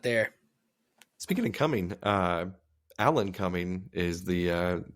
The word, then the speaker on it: Alan Cumming: Speaking of coming, Alan Cumming is the name for Nightcrawler. Alan Cumming. It is spelled exactly how it sounds.